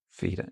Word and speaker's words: Feder: So fell and feda. Now there we do have a different pronunciation. In my head, it sounds a little bit like the difference between the E in egg and yeah. the. Yeah. I'm thinking, well, the A sound in, I don't know, the month of May. Feder.